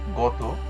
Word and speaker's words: গত: কাঁদো কাদ ছলছল ইত্যাদি ছয় নাম্বার ত প্রত্যয় কিংবা ইত প্রত্যয়ন্ত বিশেষণ পদের অন্তঅকার ওকার উপরে উচ্চারিত হয়। যেমন গত রক্ষিত এখানে যে ইত প্রত্যয়